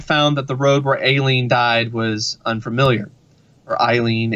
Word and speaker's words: Aileen: that the road where Aileen died was unfamiliar or Eileen a lien hater they pronounced it a lien because it's an A in front so neither of them